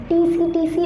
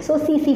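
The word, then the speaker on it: tsetse: Nemo, and vector is टीसीटीसी फ्लाई, नॉट टीसीटीसी fly, pronunciation टीसीटीसी नहीं बोलेंगे, टी is silent, so सीसी फ्लाई।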